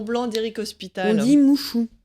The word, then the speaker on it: Muxu: Et ça s'écrit effectivement M-U-X-U, mais ça se dit pas muxu, ça se dit mouchou.